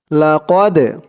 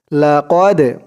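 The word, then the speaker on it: لَقَدْ: জজম সাকিন দুটোটা একই লাকদ লাকদ কফ দাল জবর কদে কদে এরকম ধাক্কা দিয়ে পড়তে হবে লাকদ খলাক এই কফটা কলকলার হরফ ধাক্কা দিয়ে পড়তে হবে লাম দিয়ে কফ ধরবে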